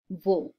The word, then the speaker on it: wo: আমরা আগে শিখেছি জার্মান ভাষায় ডাব্লিউর উচ্চারণ ভে হয়, ভে, সেজন্য এটার উচ্চারণ wo।